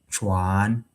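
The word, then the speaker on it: 船: And if it changes to the rising tone, then it will be chuan. And then chuan in Chinese means a boat, a boat like the boat that um this mode of transportation.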